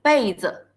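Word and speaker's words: 被子: 个名词，记住这个 " 子 " 是轻声，它没有声调哦，是被子，这个读被子。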